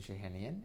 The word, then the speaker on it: Shahinian: your name and your affiliation okay I'm shahinian it's spelled uh my first name is spelled v